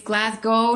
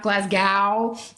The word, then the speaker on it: Glasgow: it but it's Edinburgh it's Glasgow not Glasgow any Scottish person who's